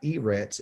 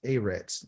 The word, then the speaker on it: eretz: in english eretz okay it's not e-rex it's a reds okay um or already